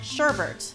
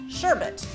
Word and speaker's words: sherbet: used to call it sherbet until i learned that it's actually called sherbet which rhymes with hermit who knew you